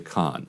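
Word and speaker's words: Cannes: a documentary that was uh just accepted into Khan. Is that how you say it? Yes. Um a a huge achievement in the world of documentary film making. The day after her film was accepted into con the film festival, her home is hit with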